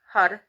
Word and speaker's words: Har: um the word is hud it's spelled h-a-r but it's pronounced with a hard d or a hard r excuse me so it sounds like a d uh and the translation